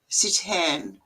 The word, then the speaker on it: seitan: Oh, and by the way, it's spelled Seitan. Yeah, Sitan.